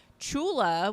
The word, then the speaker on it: Chula: ever created because like Chula, we pronounce it CHU, but it's actually spelled J with a J. Well, because there are 2 CHs in, like, there's 2 characters that can make a CH sound, but it's pronounced the J because of the vowel that comes after it.